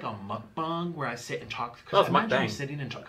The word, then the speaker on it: mukbang: Now today, it's not gonna be like a mukbang where I sit and talk. It's mukbang. That's how you pronounce that shit.